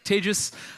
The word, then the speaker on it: Tejas: I'm Tejas. That's pronounced like contagious disease.